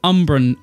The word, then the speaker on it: umbran: the by the way I kept calling these Urban planks they're called umbran umbran umbran planks I